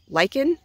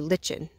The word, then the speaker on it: lichen: it's moths actually no I've heard this say said two ways lichen or lichen I've heard lichen but some people say lichen it depends on how you say it but this is just